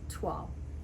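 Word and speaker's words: toile: think it's very similar to voil but it's pronounced tual there you go shalley shelly is not pronounced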